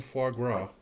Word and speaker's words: foie gras: Montanian foie gras. Yes, that's how you pronounce it.